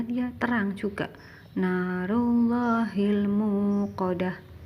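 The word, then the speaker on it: نار الله الموقدة: Narullahil muqadah. Tidak boleh narullahim muqadah, tidak boleh, harus terang.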